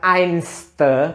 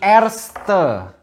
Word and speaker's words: erste: di Jerman kalau First first itu bukan ains bukan tapi erste artis2 itu first Bukan